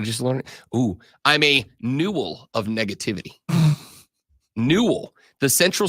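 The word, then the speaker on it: newel: middle is called a new how do you spell that NE e w l okay that's how I thought you would spell it all right rhy rhymes with Jewel but new yeah so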